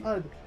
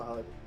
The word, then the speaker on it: HUD: Hut, bro. Hut. Okay. No one no one pronounces Hu. Really? HUD.